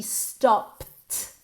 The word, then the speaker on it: stopped: Es como si después de esa P, en realidad, en vez de ed, en realidad fuera una T. T directamente. Stopped.